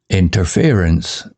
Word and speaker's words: interference: Interference sounds like interference. stress on fear.